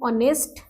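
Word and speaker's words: honest: N orange, N university, an ऑनेस्ट मैन. यहाँ पर H silent है, ओ से स्टार्ट माना जाएगा, तो इसके आगे एन लगेगा.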